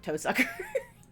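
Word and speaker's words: Tohsaka: Her last name Toaka when pronounced in Japanese sounds like to sucker.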